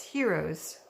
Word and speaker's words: gyros: different ways okay and I'm told the proper waited to pronounce it is Heroes which is Gyr OS and some people say gyros so just in case you don't know what heroes are their gyros either or I'm good with both right I don't care which way it's pronounced just as long as